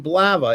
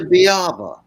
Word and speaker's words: Biava: From WWNO, Blava. Is that the proper way to say that? It's actually Biava.